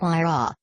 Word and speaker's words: Huayra: splash in but the whare pronounced why raw as the requisite assets